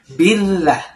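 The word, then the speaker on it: بالله: Di sini ada huruf ba yang berharakat kasrah. Lalu bersambung langsung dengan hamzah wasal ya yang satu kata dengan lafaz Allah. Billah. Ditahan lamnya ya. Billah. Billah.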